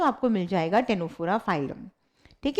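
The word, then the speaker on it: Ctenophora: है बच्चे इट इज टेनो फोरा इट इज टेनो फोरा टी सी साइलेंट होता है इसमें इट इज टेनो फोरा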